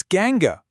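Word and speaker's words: gangue: It's ganga. And it's pronounced just like a gang of friends.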